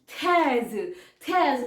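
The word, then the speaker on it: treize: ई आई जड ई थैज थैज बोल रही हूं मैं लेकिन आर जो है यहां पे ना वो थ आप प्रोनंसिएशन देखो ठीक है थ ओके तो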